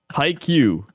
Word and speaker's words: Haikyuu: It's Haikyuu.